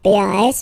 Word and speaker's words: pas: Okay, we write it pas. Okay, but as usual, final s is not pronounced, so it's pa.